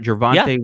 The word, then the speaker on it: Javonte: What did I say his name right? Javonte Williams? Javonte Williams, you got it.